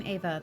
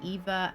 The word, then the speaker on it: Eva: I keep jumping between Ava and Eva, and I apologize for that. The E makes me feel like it's a soft E, but it's being pronounced like an A.